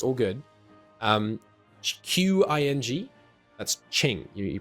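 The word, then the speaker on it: Qing: language it's it's all good um q-i-n-g that's Ching you pronounce it sure so Ching Dao for example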